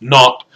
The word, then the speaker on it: naught: with this little zero this little subscript zero is pronounced naught we get that from the good old UK so X minus X